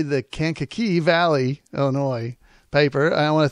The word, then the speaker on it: Kankakee: it was in the daily journal from the Kankakee Valley Illinois a newspaper boy I hope I